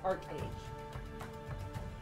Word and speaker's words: ArcheAge: auroria and nuia and the game itself is pronounced Arc age uh which is a little bit different from